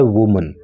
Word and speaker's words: women: और फिर इसको वुमन नहीं बोलते, फिर इसको बोलते हैं वीमन।